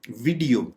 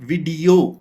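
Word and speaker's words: video: वीडियो, वीडियो आमतौर पे इस लफ्ज को बोला जाता है वीडियो, यानी हमारा एम्फेसिस वी और आई के बाद इसको हम खींचते हैं, जबकि ये गलत तरीका कार होगा। इसको प्रोनाउंस करने का करेक्ट तरीका ये है कि आप वीडियो, यानी आप ई के ऊपर, चूंकि ये एक आप डैश देख रहे हैं, तो आपने इसको थोड़ा खींचना है।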